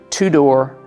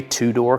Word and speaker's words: Tudor: I should mention that two-door is spelled t-u-d-o-r and you would think